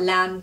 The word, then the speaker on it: lamb: as well you've got lamb christ is often called the lamb of god but for some reason the spelling of lamb has a silent b at the end which doesn't really make